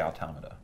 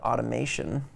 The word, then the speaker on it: Automata: I should say automata Oh claim can't be pronounced either way I say automata I did I did an interview recently where a guy just didn't even try and he just called it automation automation ones like yeah sure whatever bummer all